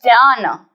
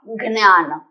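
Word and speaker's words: ज्ञान: This is jnana, not gnana.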